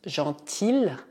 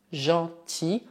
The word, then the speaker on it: gentil: Não dizemos gentil, mas gentil, como se o L não existisse.